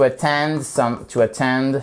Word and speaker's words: attend: To attend something. Vous faites bien attention, vous voyez, vous avez votre apostrophe ici, ce qui signifie que, hop, vous avez l'accent tonique sur la seconde syllabe.